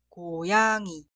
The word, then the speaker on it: 고양이: Cuidado, la segunda sílaba nunca suena yang, siempre suena yang. Y la última sílaba suena i, no suena gi.